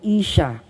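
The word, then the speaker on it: אשה: Actually, sa salitang Hebreo, yung word na babae dyan, ang tawag, ang bigkas doon ay Isha.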